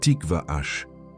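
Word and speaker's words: Tiqvah: Cette parole est tikvash. Écoute bien la sonorité.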